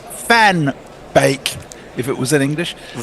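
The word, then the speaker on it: van Beek: I couldn't Stephen Steven Kelk says it's pronounced fanbake if it was in English. Van Bake.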